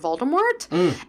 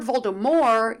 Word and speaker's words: Voldemort: weird and then also if it's Lord Voldemort you don't pronounce the T and the T is